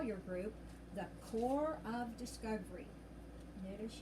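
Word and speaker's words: Corps: call your group the core of discovery notice you don't say the p in that word is pronounced poor time she don't say the ass either core the core of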